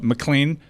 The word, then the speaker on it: McLean: on how to pronounce AJ's last name so McLean because it's not spelled like uh you know Bruce Willis and Dian